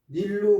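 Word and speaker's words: 尼: 이게 닐자라고 발음을 하면은 저지하다는 뜻으로 쓰일 수가 있습니다.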